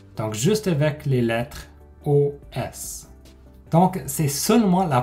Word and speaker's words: os: au temps que le mot au singulier c'est os os occlus riels attention parce qu'on ne prononce pas les s ils ont maintenant est